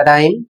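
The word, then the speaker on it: rhyme: अगला शब्द है आर एच वाई एम ई। इसे पढ़ा जाएगा राइम और इसका अर्थ होता है कविता की तुकबंदी।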